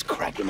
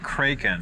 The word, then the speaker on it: Kraken: Kraken don't B it's craen anyways always heard it said cren well we always pronounce it kren no no no no no no no cin ER it's pronounced in the original Scandinavian but what happened was